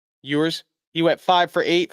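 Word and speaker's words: Ewers: Quinn Yurs or Elers, how do you say it? Users, he went five for eight for 53 yards.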